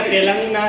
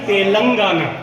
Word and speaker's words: तेलंगाना: हाँ, रेवंत रेड्डी के साथ वहाँ के और तुमने प्रोनाउंसिएशन गलत किया, तेलंगाना नहीं तेलंगाना। तेलंगाना, हाँ ठीक है।